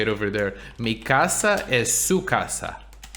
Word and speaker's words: casa: An S between vowels sounds like Z. The word to remember is casa, Casa.